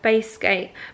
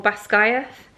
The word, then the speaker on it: Basgiath: the girls group chat, how do we pronounce I say Basgiath, but it's actually I A T H at the end. So, Basgiath, maybe? Basgiath or Basgayath War College.